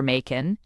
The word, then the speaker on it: Machen: Knops admin applying modern techniques exhorted readers to remember Makin. It rhymes with Kraken.